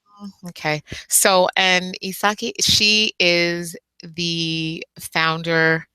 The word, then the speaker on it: Isake: name so I can't so it's isaki no yeah that's correct isaki isaki I love it